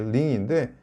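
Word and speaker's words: 零: 발음은 링이 되겠습니다.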